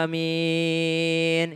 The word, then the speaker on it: amin: A-nya panjang, min-nya juga panjang. Ada juga amin. Ada juga yang seperti itu, ada juga amin. Nah ini yang agak sedikit aneh kalau A-nya pendek, min-nya panjang. Maka yang normal-normal saja. Amin.